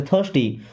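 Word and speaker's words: thirsty: इसको थिस्टी नहीं पढ़ते, थर्स्टी।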